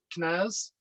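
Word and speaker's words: князь: i spelled it out but i know that k has got to be silent it's not actually quite silent it's it's that that hard start knaz okay so it's it's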